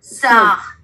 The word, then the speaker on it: sœur: Và chữ này là mình đọc là gì? Sœur.